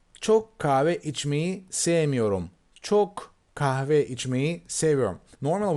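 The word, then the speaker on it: kahve: me same Yoram choke cava each me savior normal we don't pronounce hu no in daily dialogues we just wreck the same chocolate cafe as if there's no H letter okay Djokovic me same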